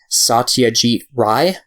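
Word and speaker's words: Satyajit Ray: from Indian director uh I think this is how you pronounce his name Satya chief Rai um yeah he directs like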